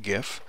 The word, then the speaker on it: GIF: save it as a gif and yes i pronounce it gif so we're going to save this one as